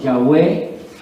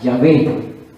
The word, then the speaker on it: Yahweh: Que lo más cercano es la pronunciación Yahweh y la más exacta en lo que se acerca Yahvé como tal, ¿sí?